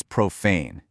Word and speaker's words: profane: Notice the emphasis right there on the second syllable. It rhymes perfectly with the word rain.